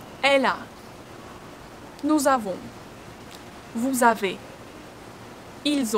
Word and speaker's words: elle a: And the same in elle a. Only here we have a sound. Your mouth should be widely open.